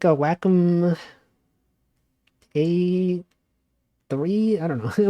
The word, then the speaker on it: Wacom: It's actually pronounced Wacom. You guys know that? It's pronounced Wacom. Like whack-a-mole.